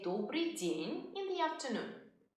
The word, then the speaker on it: Добрый день: We say Добрый день in the afternoon. Добрый день.